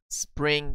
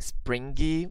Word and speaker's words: spring: Remember, letter G is not pronounced springy. No, don't say that. We do not pronounce the G letter at the end of words Ending in ing, remember? Spring, spring.